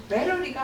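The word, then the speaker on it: battery: 히타 뭐 히타워 뭐 아니 영어 어 영어로 베러리가 맞아요. 베러리 영식이나 미국식이나 베러리예요. 이거 찾아서 이거 음성 들어 보시면 다 배터리라고 나오는데 이제 써 있는 우리는 배터리가 외레어 표기법인데 이제 배터리는 일본에서 이제 그 발음을 잘못해서 세게 해서 그렇게 하지말 그래서 지금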